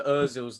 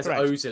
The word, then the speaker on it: Özil: So it's the same way as in Mesa Özil's names. Not me Ozil. It's me Özil.